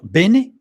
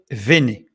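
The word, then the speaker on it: בני: ça veut dire que quand le Beit n'est pas pointé quand il y a pas de dagch en hébreu il se prononce non pas B mais V comme le vave ça veut dire qu'il ne faut pas lire Bené mais il faut lire vené sachant que le vave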